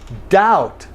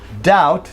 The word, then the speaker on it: doubt: Okay, in the same way, doubt. Doubt, now make the vowel correct, short O, ah, and then B is also silent, doubt.